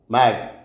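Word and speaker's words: maid: ठीक है, अब ए आई से जैसे हम प्रोनाउंस करते हैं तो एम ए आई डी मैड की मेड, मेड यानी जो काम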